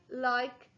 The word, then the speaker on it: like: The magic E is silent and it's turning my short I into the long I sound. L-I-K. I like food.